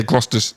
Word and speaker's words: Gloucestershire: officer of the Royal Gloucestershire Hussars. So Hussars? Hussars. Yeah. What is that place in England? Did I say it right? Gloucestershire? Nah. It'll be like Gloucester. Yeah, Gloucester. Yeah, it's like Gloucestershire.